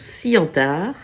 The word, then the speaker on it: Ciantar: Je suis Tarr, ça se prononce Cientard.